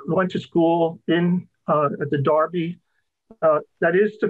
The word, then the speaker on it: Derby: to school in the darby that is the correct pronunciation of d-e-r-v-y by the way in britain uh it's not derby it is darby and the famous race